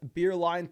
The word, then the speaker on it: Beerline: Now, Alex, coming out with their next question, says, pronounced as Beerline. Thanks, bro. Much love, my guy, Alex Beerline.